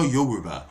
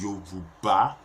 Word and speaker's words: Yoruba: you due it's the yoruba it's Yuba yoruba yoruba putting effort in learning how to pronounce African names it is not an experience it is Yoruba learn the pronunciation it is you bar and again what's this